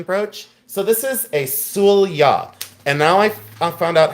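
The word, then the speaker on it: sølje: So, this is a sula. And now I found out how to pronounce it. It's Sulya. S O L J E, but it's pronounced Sulya.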